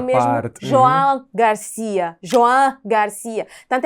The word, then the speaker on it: Joan: Mas não é Juan. É. Nós conhecemos o espanhol sul-americano. E no espanhol sul-americano ele é Juan. Mas e mas ele não é nem ruano no espanhol sulamericano, porque o nome dele escreve-se com o o fechado e não com u para ser o Juan